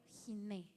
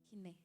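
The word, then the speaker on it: הִנֵּה: Y esta palabra es en el hebreo jiné. H i n e h. Jiné se pronuncia. Giné.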